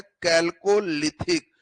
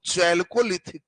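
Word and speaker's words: chalcolithic: हम कैल्कोलिथिक करें वो चैल्कोलिथिक कर। प्रोनाउंसिएशन पर है, सीएच से जो पढ़े तो कैल्कोलिथिक या चैल्कोलिथिक करेंगे तो समझ लेना कि कौन काल है?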